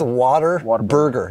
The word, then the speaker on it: Whataburger: It's Whataburger. Yeah, okay. Exactly right. Well, it is spelled like that.